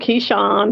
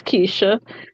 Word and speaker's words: Keisha: It's spelled, it's spelled Keisha, Keyshawn, whatever, but I go by any of it, but technically it's Keisha.